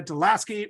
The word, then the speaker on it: deLaski: And we are so pleased to have David and Anna deLaski with us today.